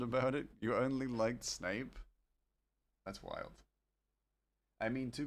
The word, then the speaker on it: Snape: I got into a fight with my cousin because he was convinced Snape was pronounced Snap when we were kids.